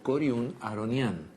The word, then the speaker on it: Coriún Aharonián: cori y materno harput pero todos lo conocemos y pronunciamos como corun aronian a este ciudadano montevideano